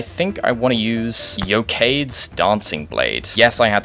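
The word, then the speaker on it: Eochaid's: E-O-C-H is yoke? That's not right.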